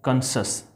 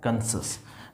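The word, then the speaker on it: conscious: सी के बाद यदि IOU रहे तो उसका उच्चारण स होगा।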